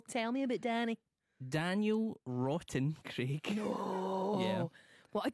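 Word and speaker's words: Wroughton: Daniel Rotten Craig. No. Yeah. What a good name. Mm-hmm. But then it sounds like rotten. I like it. I think it's cool. Spelt with a W-R-O-U-G-H-T-O-N.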